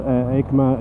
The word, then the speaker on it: EICMA: For those not familiar, EICMA is one of the main sort of shows